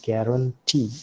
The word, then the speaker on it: guarantee: also have guarantee see the accent does not usually fall upon the first syllable it can also fall upon the last syllable as you find here in guarantee and secret cigarette so